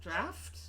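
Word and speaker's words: draught: to own and um the same school of pronunciation that produces drought as draft oh my goodness oh oh okay I I don't think I know how to pronounce drop then I it's draft look I learned to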